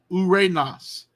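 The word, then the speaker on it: οὐρανός: this um so so notice diphthong two letters one sound one syllable ooh Ray Nas Uranus heaven Omicron up salon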